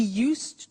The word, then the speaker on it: used: only dogs and he used to eat Italian cake at Christmas now this verb used to well it's written you s ii d but the pronunciation is used and we'll see that